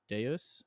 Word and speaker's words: Deus: Homo Deus, I believe it's pronounced actually. Deus.